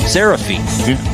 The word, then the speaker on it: Serefine: Serefine.